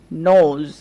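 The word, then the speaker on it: nose: নোজ, খেয়াল করেন এখানে আমরা ও দেখতে পাচ্ছি, তারপরে দেখেন শেষে একটা ই ব্যবহার করা হয়েছে আর ড্যাশ এর জায়গায় এস ব্যবহার করা হয়েছে, তাই আমরা ওকে কিন্তু ও এর মতোই উচ্চারণ করছি, নোজ মানে নাক।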